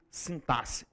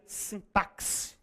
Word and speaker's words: sintaxe: É que alguns autores já admitem a pronúncia sintaxe, tá? Mas a pronúncia da palavra originária é sintaç, como se você escrevesse assim, ó. Ó, como se eu fosse escrever a palavra assim, ó. Sintas. Então, se for pronunciar, pronuncia assim, tá?